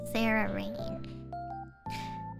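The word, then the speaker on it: Cerarain: or something like that it's uh c e r a r a i n that's how you say it Sarah rain yeah she made that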